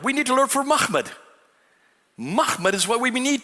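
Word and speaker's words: محمد: So how would you pronounce this word? Without the vowels, how would you pronounce it? Mahmud. That's how you would pronounce it.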